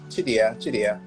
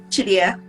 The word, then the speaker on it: Chidiya: Chidiya, am I pronouncing your name right? First of all, let's start with that. It's Chidiya. Chidiya.